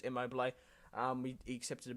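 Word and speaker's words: Immobile: Um I think it's it's how I would it's how it's spelled IMO, but I'm pretty sure it's immobil.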